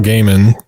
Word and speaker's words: Gaiman: We're going to try to read Neil Gaiman, as Rom says, it's pronounced.